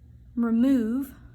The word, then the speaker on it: remove: give that an a remove is supposed to rhyme with love if you pronounce it in the right way so that's going to